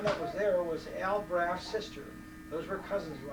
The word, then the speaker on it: Braff: The German, the German pronunciation of W is F. F. F. It's like a bond. W is F. So it was Braff was our name, really.